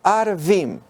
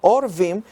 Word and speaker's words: Arvim: Pero aconteció que oyendo Sambalat y Tobías y los Arvim, no podríamos pronunciarlo Orvim porque significaría cuervos.